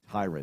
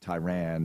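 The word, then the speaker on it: Tyrann: Tyron, not Tyran.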